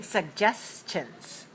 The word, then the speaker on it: suggestions: All right, so let's hear you say suggestions. Suggestions. Suggestions. 3 syllables, stress the second.